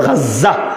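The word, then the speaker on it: غزة: মূলত লেখা দরকার হলো গাজা বাংলায় বলে গাজা আরবিতে উচ্চারণ হলো গাজ্জা গাজ্জা ওই গাজ্জা শব্দটারে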